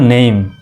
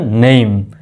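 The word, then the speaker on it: name: বলি কিন্তু এটি হলো ভুল উচ্চারণ সঠিক উচ্চারণ হলো নেইম একটু স্টাইল করে বলবেন স্ট্যান্ডার্ড ভাবে বলবেন নেম তারপরে দেখেন কে ডাবল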